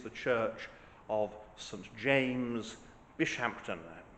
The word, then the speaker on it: Bishampton: Church of St James bishampton which may be pronounced bisham this is England after all it's largely being re